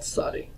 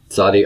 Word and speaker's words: Tsadi: Originally, it would have been pronounced as an S with constriction in the throat. Not just S, but sa, sa. Nowadays, people will pronounce it as a TS sound, as in hits or eccentric.